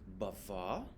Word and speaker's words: bavard: just going down through uh le pronunciation the pronunciation uh numero o is bavar if it's masculine bavard if it's feminine so